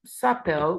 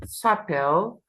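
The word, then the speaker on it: s'appellent: they called will be um Comm e sael with a silent ENT or you can say comma L sael with a silent ENT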